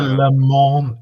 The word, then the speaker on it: Le Mans: It's a Le Mans. It's pronounced Le Mans. How do we know it's Rolex? Le Mans. You don't pronounce the N in the Le Mans. No, you don't pronounce the S.